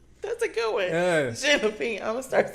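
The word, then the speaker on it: jalapeño: I did that famous incorrect pronunciation of J. Oops. Jay Lapinos. No. That's a good one. Yeah. Jalapeno.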